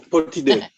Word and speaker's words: Potidaea: How did you pronounce that? I said I don't know. I put it there. No, Potidaea.